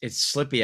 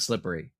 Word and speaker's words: slippery: Almost no one puts the extra syllable in around Pittsburgh. It's slippy outside. It's not slippery.